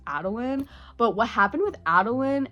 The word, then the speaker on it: Adolin: I always said his name as Adolin, but I recently found out that it's Adolin.